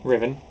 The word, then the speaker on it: Rhivan: Rhivan.